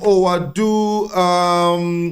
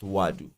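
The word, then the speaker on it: Ouadou: Abdeslam Owadu. It was 11. Just so you're aware. What's up? Apparently, it's pronounced Wadu. Wadu. Yeah. Wadu. So the OU, take it as a W.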